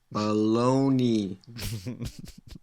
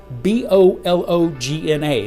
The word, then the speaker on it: Bologna: very good peter okay let's see production bologna baloney baloney stop it i don't want that one correct italian pronunciation let's see bologna i'm going to start